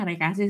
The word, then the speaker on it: Arecaceae: Sebenarnya bacanya Arecaceae sih teman-teman.